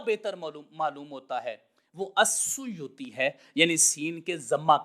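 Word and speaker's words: السيوطي: مطلب یہ ہے کہ یہ اصل لفظ الاسیوطی تھا، اور اس کو آسان آگے تلفظ کرنے کے لیے السیوطی بول دیا گیا ہے۔ یہی ائمہ محدثین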